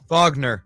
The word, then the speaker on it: Wagner: Does he pronounce it Wagner or Wagner? Wagner.